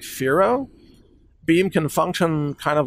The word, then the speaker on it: Firo: big innovation in Pharaoh Pharaoh is spelled f-i-r-o by the way if you're wondering but the next big